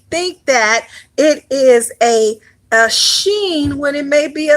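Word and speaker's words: shin: We have the sheen. All right, which also can be pronounced without the H sound in it, without the sh. All right, but it can be pronounced just with the S sound, which is seen.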